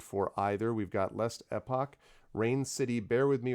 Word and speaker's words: Last Epoch: But there's a tendency for people to call it epic, like the last epic, and it's not the last epic. It's epoch, like time thing.